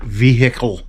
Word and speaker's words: vehicle: I'm going all the way to P4 for an Imagine Next Jurassic Park vehicle. You got to pronounce the H in vehicle.